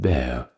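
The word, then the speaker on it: Bexar: I believe the Spanish pronounce it as Bay or bear, something along those lines.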